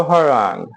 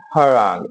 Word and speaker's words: harangue: सो हरांग हरांग एच ए आर ए एन जी यू ई हरांग ठीक है लंबा चौड़ा भाषण देना जो शायद